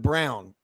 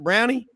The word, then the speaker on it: Browne: But over here, what I get a lot of, Mr. Brownie, I'm like, no, the E is silent. And they go, Mr. Silent E. No, it's Browne with an E.